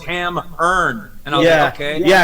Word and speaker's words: Hammerne: my band name it turns out it's actually pronounced haman and i've been saying it wrong it's my time yeah you you told me no it's ham earned and oh yeah okay yeah i [ __